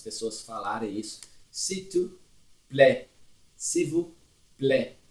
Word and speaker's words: plaît: S'il te plaît, s'il vous plaît, aqui, plaît, não pronuncia o T também.